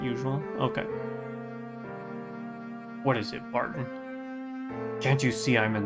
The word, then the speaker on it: Barton: Bartoon. It's Bartoon? Is that how you pronounce his name? Terribly sorry, sir. Please forgive my momentary lapse in judgment. I'll just be going now. This poor man. It is Barton.